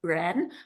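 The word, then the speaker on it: 仁: the Confucian notion of Ren, one of the 5 virtues, which means humaneness, right? And it's pronounced the same as Ren, human being.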